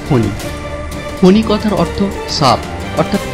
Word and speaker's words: ফণী: ইংরাজিতে FANI হলেও বাংলায় উচ্চারণটা হবে ফণী।